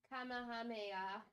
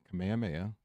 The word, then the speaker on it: Kamehameha: Um, the guy portraying Kamameha. Kamehameha. Oh, duh. Okay. I know how to pronounce it, but reading it was weird.